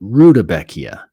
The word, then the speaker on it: Rudbeckia: had been calling it Rudbeckia. How do you spell Rudbeckia? Oh, dang. I've been saying it wrong this whole time. I was calling it Rudbeckia. It's Rudbeckia.